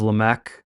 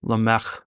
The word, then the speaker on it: Lamech: as opposed to a k sound. So instead of Lamech, it's Lamech.